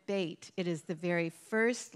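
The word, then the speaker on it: בית: life and all life began with the letter Beit it is the very first letter of the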